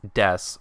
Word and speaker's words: desu: keep in mind that this word is correctly pronounced as deaths regardless of whether or not it has a